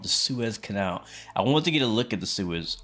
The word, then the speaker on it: Suez: to the stream Suez thank you very much that's how you say it Suez do I drink iced